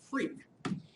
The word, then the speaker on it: FREQ: Um, and so this is pronounced freak as if it was RF f a k. Um, and so I just spel r fq here to be abbreviation of frequency. So product freak again I have some options after it.